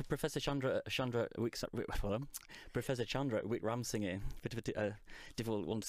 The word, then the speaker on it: Wickramasinghe: Now, I'm glad you're going to say his name, because I've got it written phonetically in front of me. And it's Professor Chandra Professor Chandra Wickramasinghe, a difficult one to say.